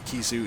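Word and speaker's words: Khezu: Well, one, it's like the Kizu, it's also very stretchy.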